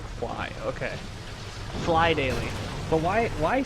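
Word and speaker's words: Phly Daily: Is it Phil Daily or Fly Daily?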